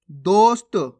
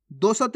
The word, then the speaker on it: दोस्त: कष्ट कष्ट नहीं कष्ट दोस्त कैसे पढ़ेंगे दोस्त दोसत नहीं दोस्त हल्दी कैसे पढ़ेंगे हल्दी